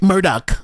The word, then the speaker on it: Murdaugh: bad for uh Alex it's Alec it's Alec Murdock okay Alec that's rich people